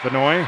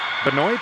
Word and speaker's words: Benoit: net silvia a chance benoit i hope i'm saying that right it could be benoit or benoit we're gonna go with bonoy here the french pronunciation roll shot looking for